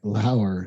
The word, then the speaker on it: Lauer: book club hosted by lauer spelled like lower it's felt like lower lots of good stories